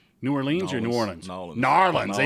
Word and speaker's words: New Orleans: What do the locals say? New Orleans or New Orleans? Narlands. They say different. They say different from everybody else. Narlands.